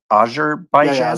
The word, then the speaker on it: Azerbaijan: Azerbaijan. Azarbaijan.